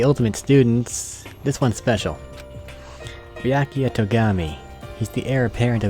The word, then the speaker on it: Byakuya Togami: How to pronounce it for me? Name's Byakuya Togami. Byakuya.